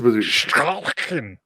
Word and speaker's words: Stollen: You didn't say it mean enough. It's Stalin.